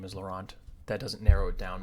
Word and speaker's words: Laurent: A Frenchman would say his name with the French R, and they wouldn't pronounce the T. It'd be like Laurent or something like that.